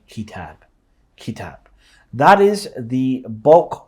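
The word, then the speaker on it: كتاب: Once you learn that the kaf and then the ta and then the alif and the ba should be pronounced as kitab, every time you see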